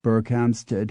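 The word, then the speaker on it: Berkhamsted: with the town of berkhamstead hartfordshire in which the first word is pronounced Burke but the second is pronounced Hart it ALS also survives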